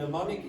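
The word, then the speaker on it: mnemonic: context good make a how do you pronounce that word any ideas pneumonic don't pronounce the m at the start okay so and neonic is like a trick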